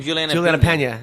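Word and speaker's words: Peña: Juliana Pena.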